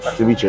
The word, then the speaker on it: ceviche: I I like that so let's try the ceviche um am I saying it correctly yeah ciche okay all right so the ceviche usually can